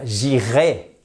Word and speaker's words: j'irai: si vous voulez dire j'irai a I et d'ailleurs j'irai on devrait pas dire j'irai en français techniquement quand c'est du futur simple on devrait prononcer jirai comme un e accent aigu mais bon personne fait